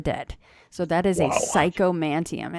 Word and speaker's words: Psychomanteum: But Psychomanteum. Is it spelled like it sounds? Yep, exactly. Psychomanteum.